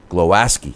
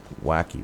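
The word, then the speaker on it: Głowacki: should go after and it's actually glow ascii i guess is how they pronounce it not wacky but i got one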